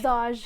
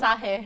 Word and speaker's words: Saj: How do you, am I saying it right? Saj? Yeah, you're saying it right. Saj. I think people are gonna get it wrong like so many times. Yeah. I thought it was Sahe.